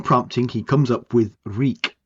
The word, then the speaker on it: Reek: They ask his name and with some prompting he comes up with Reek rhymes with leak.